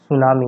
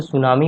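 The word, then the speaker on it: tsunami: और ये जो सुनामी होती है ना, वो क्या होती है, इसमें टी साइलेंट हो जाता है, ओके, और टी से ही स्पेलिंग लिखते हैं इसको, सुनामी।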